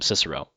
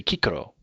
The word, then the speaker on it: Cicero: In medieval Latin, they call him Cicero. In classical Latin, like if you were around in like 200 BC speaking Latin, you would say Cicero. So there's always a hard C. There is no soft C in classical Latin.